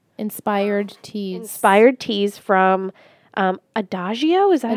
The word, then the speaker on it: Adagio: Inspired teas from Adagio, is that how you say it? Yes, Adagio.